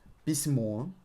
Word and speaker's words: письмо: So, письмо, try to stretch or and pronounce it higher, because it's emphasized.